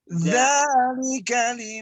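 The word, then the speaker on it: ذلك: Jadi kalau zal ada sedikit lidah kita itu keluar sedikit saja. Jadi dzalika liman khasyiya rabban.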